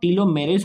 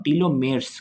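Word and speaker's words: telomeres: Length have been linked, that is नॉट टीलोमेरेस में पढ़ रहा हूँ, टीलोमेयर्स कर लो, ठीक है pronunciation. Genetic variation in the gene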